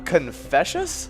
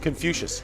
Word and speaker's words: Confucius: in 551 bc on today we got uh confessious confucius confucius a chinese philosopher and founder of confucian